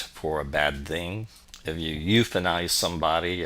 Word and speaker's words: eu: EU, pronounced you, is a Greek root that means good.